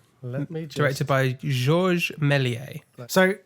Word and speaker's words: Georges Méliès: uh george melies do you want to try pronouncing that directed by directed by georges milier directed by georges melies so it's it's actually pronounced josh for reference